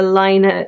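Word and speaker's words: Laine: little bit of a Lina number 8 love-in. So Lina magazine, Lane magazine, depending on how you pronounce it, and the magazine's producers have said they're happy with whichever way you so choose.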